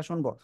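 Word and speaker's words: ش: যা পড়া হচ্ছে সেটা শুনবো ঠিক আছে যে পড়া দেয়া হয়েছে এরপরে আমরা এই অক্ষরটা উচ্চারণ করব জিহ্বার মধ্যখান তার বরাবর উপরে তালুর সঙ্গে লাগিয়ে সা শব্দ করে উচ্চারণ হবে শি সবাই একসাথে জোরে উচ্চারণ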